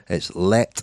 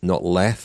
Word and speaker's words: Leth: And it was directed by Jørgen Leth, the Danish film director. I've had the Danish pronunciation police onto me already. It's Leth, not Leth, apparently.